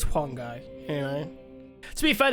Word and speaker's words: Huang Gai: I don't actually mind Huang Gai. You will have a major part to Is his play. name Hung Gai? That's how we see it, but it's Huang Gai.